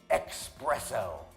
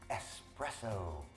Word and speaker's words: espresso: one of my favorites people that say expresso expresso it's not expresso there's no X it's espresso hey can I have two